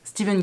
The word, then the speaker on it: Stephen: pourquoi alors que c'est écrit ainsi est-ce qu'on prononce Steven King avoue que c'est pas hyper logique et